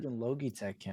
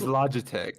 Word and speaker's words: Logitech: is it doing that litech I don't know I don't I wish I could like filter it l it's a Lo Oho what how did I mispronounce it it's Logitech Logitech it's def no no